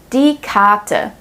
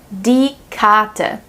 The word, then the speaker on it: Karte: We pronounce the R silently more like an A if the R is placed right before a consonant. Zum Beispiel, die Karte, die Karte.